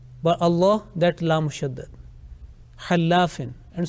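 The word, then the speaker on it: الله: So according to the rule, this Laam will be pronounced with thick sound, not with empty mouth. We will say, Inna Allah.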